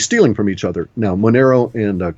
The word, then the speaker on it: Monero: Okay, and a Monero, spell that. Monero, right. Those are good. Dash is good. M-O-N-E-R-O? Correct. As in like an Italianized version of the idea of money.